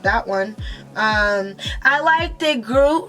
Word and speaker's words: Groot: I liked it, Groot, right? I said it right? Okay, because like you call him Grout.